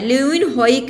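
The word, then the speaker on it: Leeuwenhoek: किसने किया है लन हॉक ने कहा है लुन होइक ने कहा है ठीक है इनका पूरा नाम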